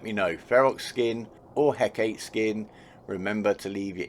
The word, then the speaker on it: Hecate: this one right here the heck eight the hecate if you want to say it like that i really don't mind i prefer hecate myself yeah so let me